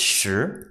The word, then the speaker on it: 时: inch on the right the pronunciation is sure so let's grab your